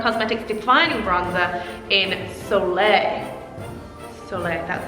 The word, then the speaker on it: Soleil: Soleil, that's how you pronounce it.